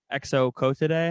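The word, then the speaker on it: Exocoetidae: a flying fish, and it was Exo Cotidae, I think is how you say it.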